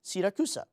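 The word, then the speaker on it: Siracusa: in Sicily is pronounced sakusa so that should be it right not exactly that's the Italian way of saying it but as any Sicilian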